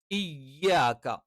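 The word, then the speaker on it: إياك: ഇകാരം പലപ്പോഴും ഇകാരമായി ഉച്ചരിക്കാതെ പകരം ഇ ഇ ഇ ഇ ഈ പറയുന്ന രണ്ട് ഉച്ചാരണങ്ങൾക്ക് നടുവിലുള്ള ഒരു ഉച്ചാരണം പലപ്പോഴും കണ്ടുവരാറുണ്ട്. അത് തെറ്റാണ്. ഈ എന്ന് തന്നെ കറക്റ്റ് പറയണം.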